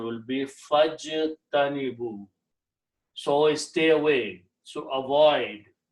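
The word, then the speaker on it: فَاجْتَنِبُوا: Fa means so, and when you read together, you do not pronounce this alif, you combine fajtanibu, this becomes hamzatul wasl,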